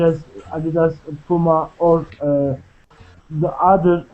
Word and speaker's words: Adidas: Abdullah could you say how you say in German Adidas because I'm saying the British way we say Adidas how do you say it in German Adidas Adidas okay it's pretty name